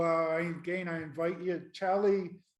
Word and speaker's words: Xali: again i invite you tally is how you say it but it's spelled x-a-l-i and i believe joey